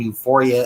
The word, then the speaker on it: Uforia: Again, Euphoria is spelled UFORIA, licensed to Univision Radio Illinois Incorporated.